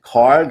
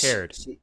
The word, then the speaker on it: Caird: Is it Card or Caird? Do you know how to pronounce that, John? Yeah, I James believe that's Caird.